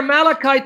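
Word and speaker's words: מלאך: Even though it's spelled malach, it's malach.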